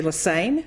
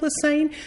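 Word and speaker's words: Lesesne: name doesn't look like lesane just remember it rhymes with insane I've been a professor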